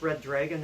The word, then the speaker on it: Ryddragyn: excellent the first one believe it's pronounced red dragon there's wise instead of ease and it replacing another vowel but he does a